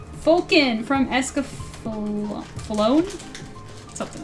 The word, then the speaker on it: Escaflowne: It's Escaflowne, right?